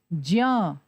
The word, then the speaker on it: ज्ञ: तो जब हम ज और य को मिलाते हैं तो इन दोनों की मिश्रित ध्वनि ही तो इसमें प्रयोग होगी ना। तो इसका प्रयोग क्या होना चाहिए? इसका उच्चारण कैसे होना चाहिए? इसका उच्चारण होना चाहिए ज्ञ, जैसे ज्ञान या यज्ञ।